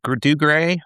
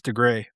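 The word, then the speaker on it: Dougray: Is it pronounced Dugray or Doug Ray? I think I'm butchered that. I think it's DeGray.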